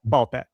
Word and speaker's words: Ball x Pit: I don't know if they pronounce the X or not, but you don't. No. Okay. So, it's ball pit.